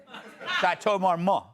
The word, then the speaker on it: Chateau Marmont: You don't pronounce the T, I heard. Chateau Marmont.